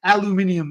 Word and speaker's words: aluminium: really got used to these aluminum aluminium as the British say an aluminum cup and